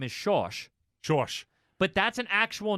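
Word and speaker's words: Schorsch: he's from a lot of people call him shawsh josh instead of georg that's weird i know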